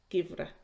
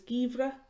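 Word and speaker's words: geimhreadh: some winter related vocabulary winter and Irish is givera you might hear it pronounced a few different ways in kind of diary she can also be pronounced as givra in Monster it can be pronounced as Gira and in Ulster it could be pronounced as gevro so those are the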